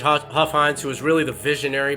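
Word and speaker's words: Hofheinz: very beginning with judge hoff heinz i'd probably butchered that name too i'm notorious names it's judge huffines who is really the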